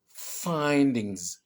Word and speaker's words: findings: Donc, si je prononce ça, ça fait findings. J'accentue bien la première syllabe, je vais un peu comme souffler. Findings.